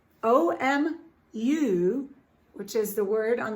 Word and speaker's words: Omu: inside how i knew to say the name o m u which is the word on the front page omu she says is pronounced amu and it is the igbo term for queen